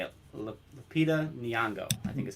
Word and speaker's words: Lupita Nyong'o: Lupita Nyong'o, I think is how it's said. Lupita, yeah, I know. I mean, the first name's Lupita, Lupita, but yeah, Lupita Nyong'o.